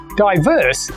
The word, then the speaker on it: diverse: Diverse is an adjective with two syllables. And just like extinct, we stress the second syllable.